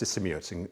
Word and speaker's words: Sisimiut: It took me about 6 months, and then we ended up in a place called, I think it's pronounced Sisimiut in Greenland.